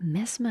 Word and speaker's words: Mesmer: As a side note, mesmer sounds like the word mesmerizing, the source of the word being from Franz Mesmer, a physician who used hypnosis to try and treat diseases.